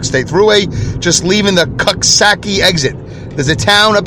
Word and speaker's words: Coxsackie: X as in X-ray, and then S as in see me later, and then Aki, A-C-K-I-E, Coxsackie.